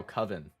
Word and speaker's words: coven: be eaten by bugs it's pronounced like oven but with the sea oh coven no no problem master